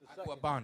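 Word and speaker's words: Agüeybaná: How you pronounce it? Aguabana.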